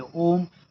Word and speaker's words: ओम: ओम जो तीन शब्दों से मिलकर बना है। आ, उ और म आ, उ और म अकार, उकार और मकार जो यह बीज मंत्र माना जाता है।